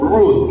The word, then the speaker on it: Ruth: El nombre de Ruth, hermanos, viene del vocablo hebreo Ruth, que se escribe R-U-W-T-H, Ruth, y eso significa amiga.